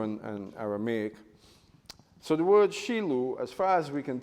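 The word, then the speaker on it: Shiloh: and the word is Shilu. We know it as Shilu, but Shilu is how you say it in Hebrew, Shilu.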